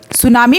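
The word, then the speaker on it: tsunami: सुनामी में T silent होता है।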